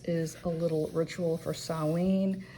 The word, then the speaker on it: Samhain: way it's actually SA saen or sin it's a Celtic word so it's not spelled it's not spelled it's not pronounced the way it is spelled and then we have